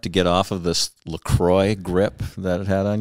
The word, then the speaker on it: LaCroix: opposite direction right now i love lacroix actually lecrae or lacroix look for both okay it's a french pronunciation i think it's important